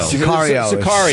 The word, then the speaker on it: Sicario: Sergio. Am I saying it wrong? Of course I am. Yeah, something like that. The Sicario. Sicario.